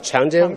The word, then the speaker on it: Chang'e: You know, CV in Chinese pronounce is Chang'e.